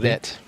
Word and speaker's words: Fredette: Fredette. Yeah, Ferdetti. I added that extra E in my notes here.